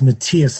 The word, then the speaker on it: Matthias: In German, it's pronounced Matthias. It's like it's Matthew. It's M-A-T-T-H-I-A-S, Matthias.